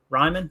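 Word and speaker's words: Raimann: Ryman, okay.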